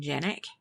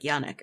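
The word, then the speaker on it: Janek: Although I was annoyed that they kept pronouncing his last name Janik. Mm-hmm. Because that doesn't look like it should be pronounced that way. No. It's probably like Yannick or something.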